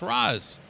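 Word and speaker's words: Ra's: being affected you know I want to call him re because I think that's sophisticated no r a apostrophe s if somebody's going to spell his name and it's re wouldn't he spell it R A C that's how we would spell it he wouldn't have it go out there and say r a apost yes obviously that's Raz I mean in the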